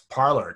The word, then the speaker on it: Parler: Well, it's Parler. Come on, man. It's like you're exactly. going to a parlor.